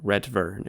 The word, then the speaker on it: Retvrn: tweets like this from users with the word Retvrn in their handle, and yes, I will be pronouncing it like that.